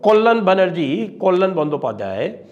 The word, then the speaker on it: कल्याण बंदोपाध्याय: हैं उसको आप लोग, लेकिन अगर आप बंगाली जानते हो तो उनका सही जो प्रोनाउंसिएशन होगा वो होगा कल्याण बनर्जी। तो कल्याण बंदोपाध्याय, तो कल्याण बंदोपाध्याय जी